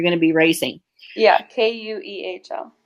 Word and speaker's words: Kuehl: So it's pronounced Kuehl, but it's spelled Keuhl, so people can look up and see where you're going to be racing. Yeah, Kuehl.